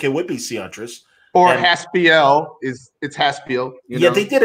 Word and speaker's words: Haspiel: Haspiel. And I'm watching the news the other day, and often people will mispronounce my name Haspiel. Sure. Like P-I-L.